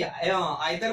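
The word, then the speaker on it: either: Same आप बोलते हैं कि आइदर बोले या इधर बोले, दोनों सही होता है।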